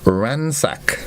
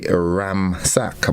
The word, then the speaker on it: ransack: a c k and I know a lot of a lot of us pronounced that word wrong before we used to say ramac but it's ransac and to ransac order